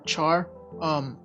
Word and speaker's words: char: that we use to represent a character is pronounced either car or char we spell it as c-h-a-r and a character